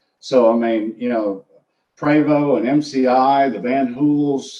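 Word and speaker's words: Prevost: know additional quality to Prost and MCI well it's actually pronounced preo but okay um you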